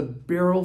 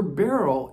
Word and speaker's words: beryl: earrings Rings now aquamarine is part of the barrel family that's spelled b-e-r-y-l and it comes from the mineral